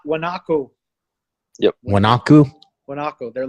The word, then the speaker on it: guanaco: website are there no those coyotes what not guanaco yep when aku they're like they're like yeah some guanaco yes it's spelled GU a and co guanaco and yeah